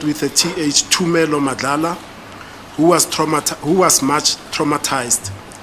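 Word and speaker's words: Thumelo: The third suspect I interviewed was Tumelo Madlala, it's spelled with a TH, Tumelo Madlala, who was much traumatized.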